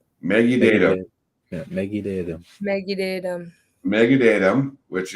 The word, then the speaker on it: Mekite'tm: So this is thanks to Mello for the pronunciation. So help me out. So you say it first, Brennan. It's Mekite'tm. Mekite'tm. Mekite'tm.